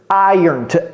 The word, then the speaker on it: iron: tableau ok Museum cl c'est pas évident également non plus de prononcer ce verbe IR c'est comme si c'était y ici e ur r IR IR ok IR répétez ça IR iron le dimanche c'est plus